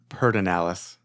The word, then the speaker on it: Pedernales: right uh on the pitter nalis River uh close to the Confluence I think I think a lot of people in the area says peralis okay P petalis I